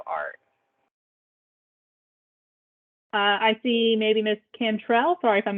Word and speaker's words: Cantrell: I see maybe Miss Cantrell. Sorry if I'm mispronouncing anyone's name.